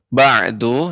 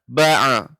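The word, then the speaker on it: بَعْدُ: Ya, untuk ba'du ya. Fama yukadzibuka ba'du biddin. Yang benar, ain ini adalah ba', tidak ba'a. Tidak memantul seperti fama yukadzibuka ba'du ba'du. Nah, ini bukan seperti itu, tapi dia lembut.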